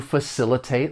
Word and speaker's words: facilitate: For pronunciation, the verb has four syllables. The stress is on that second syllable. Facilitate. And just keep in mind that the C has more of an S, that S sound.